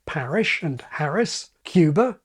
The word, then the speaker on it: Cuba: This can give you Paris, like parish and Harris, Cuba, like cube, or San Pedro, like cathedral, or Einstein rather than Einstein, and on and on and on.